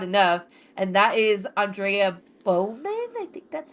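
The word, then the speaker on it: Beaumont: gets talked about enough, and that is Andrea Bowman. I think that's how you say Bowmont. Yeah, Bulmont.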